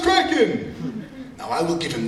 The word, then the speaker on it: Kraken: dislikes smoke to the end good night sweet kren it's pronounced Kraken now I will give him this he used